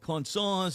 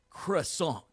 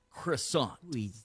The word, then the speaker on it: croissant: It is not cons. It is not crosandants. It is croissant which would be the uh pastry that you would eat for breakfast. Croissant.